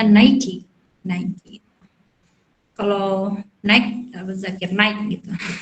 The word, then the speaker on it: Nike: Itu padahal cuma merek aja, kita salah penyebutannya Nike. Itu kita bacanya Nike.